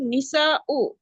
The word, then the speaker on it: النساء: হুজুর এখানে মহিলারার উচ্চারণটা কি হবে হুজুর? নিসা ও হ্যাঁ, নিসা ও, মান হাউলাই নিসা ও তিওয়ালু, এই লম্বা মহিলাগুলো কারা?